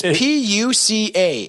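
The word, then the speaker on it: púca: It's Puka.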